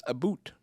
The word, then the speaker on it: about: About as a boot. This is one of the most well-known examples. While it's not exactly a boot, the Canadian pronunciation has a distinctive sound that can be heard in certain regions.